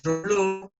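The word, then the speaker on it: Reuleaux: Y van a ver que hay un método que se llama de Roló, se escribe, que es el padre de la cinemática,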